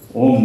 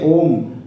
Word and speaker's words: Om: When I say Om, many people think they pronounce Om, Om lifelessly. That's not the two syllable Om name. Om is made of three syllables, Akara.